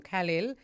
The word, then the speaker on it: Khalil: And for those who are listening and hearing the name Khalil, it's spell it for us.